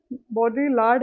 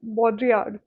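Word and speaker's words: Baudrillard: एंड जो हमारे बॉडी बॉडी लार्ड है एक्चुअली इनकी प्रोनाउंसिएशन है बॉड्रीड। बॉड्रीड।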